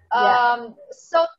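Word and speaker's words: ß: So this letter looks like beta, but it's pronounced S. It's actually pronounced S.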